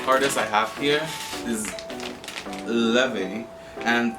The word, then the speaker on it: Laufey: The next artist I have here is Laufey, and I literally did not know how to pronounce her name up to like 2 days ago. I thought it was like Laufey or whatever, but yeah.